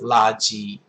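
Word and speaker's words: 垃圾: So the top version is CN, China, and they're both first tone, and they are Laji in China. So that is how you say trash in mainland China. And then in Taiwan, down here, they're both fourth tone characters.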